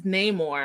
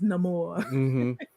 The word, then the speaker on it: Namor: they did it but his name is Neymar his name or that's why everyone else in the movie besides Neymar pronounces it Neymar Neymar's the only one who says no more my name is Namor no more I've got